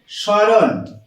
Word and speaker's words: স্মরণ: উচ্চারণ করছি না আমরা এটাকে বলছি স্মরণ এইটা এইটা উচ্চারণ করছি আর ম উচ্চারণ আমরা করছি না আরো একটি একটি শব্দ